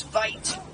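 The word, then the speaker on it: wyd: Afrikaans word for wide is vite, with a V.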